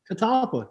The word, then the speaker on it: catalpa: see the lack of southern in me but catalpa trees is that it catalpa yeah i say it right talpa i'm almost